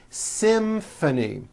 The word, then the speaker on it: symphony: It's the same thing in this next word, symphony. This is a tricky one because you've got the M sound followed by an F sound.